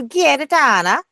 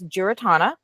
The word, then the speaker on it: Giarratana: The problem is Okay, so my husband's family, there's a couple of ways that you can pronounce it. You can probably pronounce it like the Italian, where you go Giarratana, Okay, or so it's there's Italian. yeah, or it's Giarratana, or if you're from the